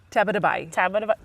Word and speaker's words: Tabatabai: uh SAR taba taba nice taba yeah rather than like an i sound at the end it ends with an e sound tab so SAR and